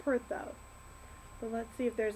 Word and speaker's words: Perthro: Okay, this one, while we're at it, this is Perthro, or it's pronounced Pertho.